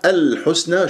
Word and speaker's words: الحسنى: هو مرققة نضم الشفاه، الحسنى شوف اللام قمرية ليش؟ لأن جاء بعدها حرف متحرك، الحاء مضمومة، وابغي حجك شوف الحروف القمرية، حجك الحسنى تسحب ضم، وطبعا اللام القمرية يجري فيها صوت فترة زمنية بسيطة، الحاء مضمومة السين ساكنة، لا تقول الحس الحس، نطقت السين سحبت ضمة الحاء وما خلصت الحركات، فلا بد أن تخلص الحركات،